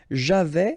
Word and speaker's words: j'avais: Okay, so j'avais, final S not pronounced.